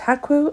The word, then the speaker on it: Hakwu: "And they are pronounced Hakwu and Seweta," added Nikki.